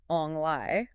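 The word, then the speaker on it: 旺來: In the Hokkien dialect, the word for pineapple is Ong Lai. Okay. Phonetically, that sounds identical to the phrase for fortune arrives or prosperity comes.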